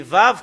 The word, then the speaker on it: ו: Et si on regarde, on fait un histour concernant les Hébreux anciens, c'est Vav qu'on le prononce.